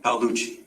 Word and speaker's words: Paluchi: So, and I'm sorry, how do you say your last name? Is it Palouchi? Paluchi.